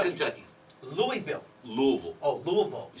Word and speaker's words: Louisville: You live in Louisville, Kentucky. Louisville.